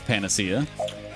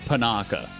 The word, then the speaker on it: panacea: I believe it's panacea. I always call it panaka. I don't think it's panaka. I'm almost positive it's not panaka.